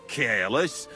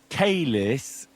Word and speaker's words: caelis: Pater Noster, qui is in caelus, sanctificata or no man's tomb.